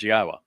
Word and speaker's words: Yahweh: Then after that introduction begins, Yahwa, which is the proper pronunciation of God's one and only name as directed by his Torah teaching regarding our higher existence and our shalom restoration.